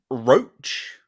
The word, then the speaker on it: Rocha: So, John Roach, I'm reliably informed is how you say his name, or Rocha, or however you say it.